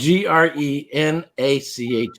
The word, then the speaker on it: Grenache: This is spelled Grenache, or in Spanish Garnacha, Garnacha. I can't spell either. Oh, Grenache. So good.